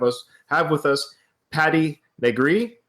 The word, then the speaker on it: Negri: podcast we have us have with us Patty nree NE gree and so uh introduce yourself Patty uh my name is Patty negri um good pronunciation um I live in Hollywood Los Angeles